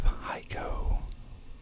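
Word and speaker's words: HEICO: um now we have heiko never heard of it it's like Geico but spelled with an H um very expensive tree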